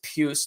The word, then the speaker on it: Pius: JT Miller centering Pius Suter and Brock Besser. Yes, I said it right. It's Pius, not Pius Suter.